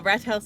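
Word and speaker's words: Rathaus: So it's not a TH sound, it's rat house.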